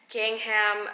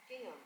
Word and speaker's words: gingham: there's like a beautiful pleated Gangham I think that's how you say is it gingham you know what you guys know I mispronounce things all the time so I'm going to look up the pronunciation really quick that way we don't screw it up this time gingham okay gingham gingham there's is really pretty